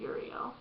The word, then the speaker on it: Uriel: Gabriel Michael Raphael and Uriel or however you pronounce her his name there's like a few different ways but I pronounce it yurio but as you can